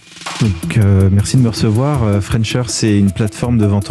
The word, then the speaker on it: Frenchr: Vous avez 28 ans, vous êtes le cofondateur de French Air. Donc ça s'écrit French, oui. F-R-E-N-C-H avec un R, tout accroché.